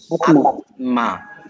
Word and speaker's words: আত্মা: তাহলে উচ্চারণ হওয়ার কথা ছিল কি? আত্মা। কিন্তু আত্মা না বইলে আমরা বলি আত্মা, আত্মা না বইলে আমরা আত্মা বলি।